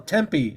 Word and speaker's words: Tempe: Tampa I thought you said temple temple well Tempe I think it's super the correct pronunciation Tempe Temple or Tempe guys t-e-m-p-l-e yeah